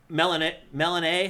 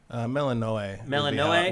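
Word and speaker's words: Melinoë: Also, Melanae, how do you say it? Melanae? Melanoe would be how I'd read that, especially with the umlaut over the E.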